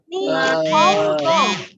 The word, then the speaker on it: Nihongo: Semuanya membacanya yang jelas ya. Tidak berdengung ya. Jadi bacanya Nihongo.